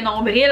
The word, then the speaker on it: nombril: Du crabe, un écureuil, un nombril, j'oserais dire que la majorité des Québécois ne prononcent pas le L, on dit vraiment plus nombril que nombril en général.